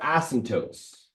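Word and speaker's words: asymptote: heard of intercepts but ASM tootes not the p is silent like in pterodactyl it's not an ASM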